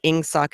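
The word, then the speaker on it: Ingsoc: it yourself on paper you might not even get the audible queue that ing sock is English socialism because it's spelled ing not e-n-g right and um and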